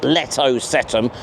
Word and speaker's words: Letocetum: Oh, and I'm 100% confident about that pronunciation of Letocetum.